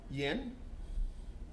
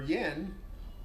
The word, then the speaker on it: Yan: Good fast ball coming from the uh pitcher Yen. And I know it's spelled Yan, but it's pronounced Yen.